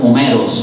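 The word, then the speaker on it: Όμηρος: আমরা নাম দিয়েছি হোমার, যার গ্রিক উচ্চারণ হচ্ছে ওমেরোস, আর ওই যেটাকে উমর বলে, আপনার ইলিয়াদ উপন্যাসের লেখক, হ্যাঁ তিনি আর উমরকে বলে, গ্রিক তো উমরই বলে, ওমেরোস বলে।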